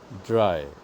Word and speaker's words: drei: So, Nummer drei, number three is dry auf Deutsch, meaning in German. V-I-E-R. Number four is called, pronounced fear, like fear of heights, fear of darkness.